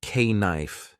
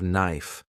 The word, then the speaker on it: knife: People laughed when I said k knife instead of knife.